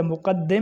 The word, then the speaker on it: مقدم: کو مقدم کہتے ہیں۔ یہ مقدم یا مقدم نہیں ہے، مقدم ہے۔ مقدم کے مقابلے میں